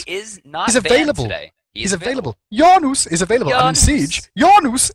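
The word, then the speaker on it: Janus: with his amazing portals yanus is pretty pretty good I have to say it like that every time I'm sorry I just otherwise ridiculous right yeah it is it's not like Janice or something like that they should be getting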